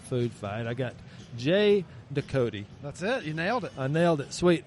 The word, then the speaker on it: Ducote: championships the ultimate food fight I got Jay doot that's it you nailed it I nailed it